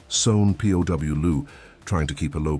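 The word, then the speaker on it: São Paulo: She was living in Sa Paulo, pronounced SW P Louu, trying to keep a low profile, but she was also running out of money.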